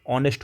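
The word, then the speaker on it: honest: इससे ऑनेस्ट है, ठीक है। तो इसका प्रोनाउंसिएशन ऑनेस्ट हो रहा है, ठीक है।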